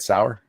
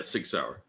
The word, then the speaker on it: Sauer: Sour. Yeah, Sig Sauer.